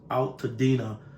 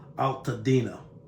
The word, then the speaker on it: Altadena: I believe it's pronounced Altadena neighborhood.